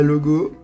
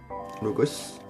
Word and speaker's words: Logos: Après, on a Logo. Enfin, Logos. Si un S, c'est qu'il faut prononcer. Voilà. Logos. Après, on a Rossa.